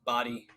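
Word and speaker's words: Badii: Yeah, it's Indian, right, or Middle Eastern, so Body.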